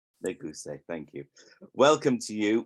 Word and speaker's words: Neguise: Avraham Neguise. Neguise, thank you.